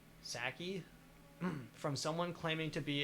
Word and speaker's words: Psaki: the press secretary Jen Psaki, Jen Psaki, PSKI. Ski. I would just say P is silent. Psaki. Saki.